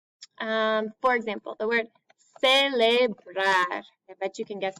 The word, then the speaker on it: celebrar: For example, the word celebrar. I bet you can guess that. So that's a baseball word. Celebrar means to celebrate. So the C is followed by e, celebrar, so it makes a s sound.